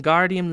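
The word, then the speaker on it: Wingardium: Hermione snap its when Guardium Leviosa making the gar nice and long you do it then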